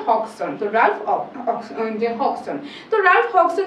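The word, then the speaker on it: Hodgson: ওকে তো stupidity street written বা হন এখানে আমাদের উচ্চারণটা কিন্তু হবে না তো এটা হবে হক্সন হক্সন তোরাফ হক্সন যে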